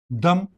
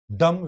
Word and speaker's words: dumb: Dumb. Dumb. When you are pronouncing dumb try as far as possible not to pronounce the B in it. Like if you have comb, tomb, dumb.